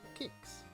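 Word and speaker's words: Qix: him since uh this this flyer helpfully tells you how to pronounce the word kicks right in the bottom pronounced kicks get your kicks from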